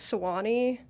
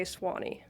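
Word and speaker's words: Sewanee: If you're really pronouncing it like a local, you'd say Swani.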